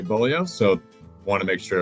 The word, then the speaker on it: Beaulieu: said it correctly, but Bolio is how you say your last name. I got caught in uh in the first week where it's not the traditional uh spelling of how I know how to say Bolio.